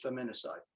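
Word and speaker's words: féminicide: femicide it's not feminism in french it's feminicide that's how you pronounce it but in english it's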